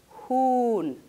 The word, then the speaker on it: Huhn: Una vocal va a ser siempre larga si hay una geminación, es decir, una duplicación de vocal, o si aparece seguida de una H.